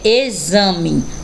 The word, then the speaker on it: exame: aí a imagem e a palavrinha a citada é exame aonde esses tem um som de z próxima imagem é abacaxi